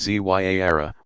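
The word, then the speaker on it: Ziyarah: Ziara, pronounced Zyara, meaning visitation, is a form of minor pilgrimage still popular all over the world.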